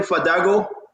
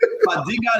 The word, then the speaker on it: Fadiga: That meant they're pronouncing the A as O. Fadiga, the man say Fadago.